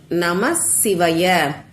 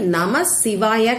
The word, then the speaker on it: நம சிவய: அதே மாதிரி 2வது வார்த்தை நம சிவாய கிடையாது, நம சிவய. இப்படிதான் நீங்க சொல்லணும், எழுதணும்.